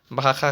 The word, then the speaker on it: भाखा: भाखा भाषा को ही हम लोग उच्चारण में भाखा कहते हैं।